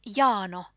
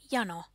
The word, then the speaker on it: jano: Also, the speaker pronounces the word jano, meaning thirst, as jano, with a long A. However, it is pronounced with a short A, jano, as in minulla on jano, I'm thirsty.